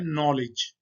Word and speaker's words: knowledge: के और एन से ये स्टार्ट हो रहा है, तो जब के और एन इकट्ठे आ जाएं तो के को हम नहीं पढ़ते, के साइलेंट है। ये लिखा हुआ है नॉलेज, KNOWLEDGE, नॉलेज।